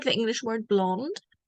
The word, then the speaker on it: blond: This is like the English word blonde. And we pronounce it like this. Blond. In this case, the D and the S are silent. You don't hear them.